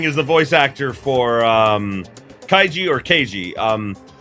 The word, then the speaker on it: Kaiji: Kaiji Tang is the voice actor for Kaiji or Keiji. It's spelled Kaiji, but he pronounces it Keiji because that's how, like,